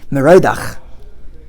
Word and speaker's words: Merodach: Be'esi, at that time, pre-destruction, Shalach Mardon Baladon ben Baladon, the predecessor of Nebuchadnezzar, whose name was, how do you pronounce it? Merodach.